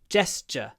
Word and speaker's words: gesture: like that sh but because of the S the T becomes a du and I get just just so it's j J like that gesture gesture now that's something I hadn't noticed before that a tu can even become a j gesture anyway a gesture gesture Gest yeah it really is J uh it's also a